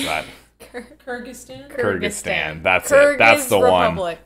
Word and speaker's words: Kyrgyzstan: wouldn't i would definitely say this is russia kurzick stan kurt kurt i don't know how to pronounce that kyrgyzstan kyrgyzstan that's it that's the one that's the one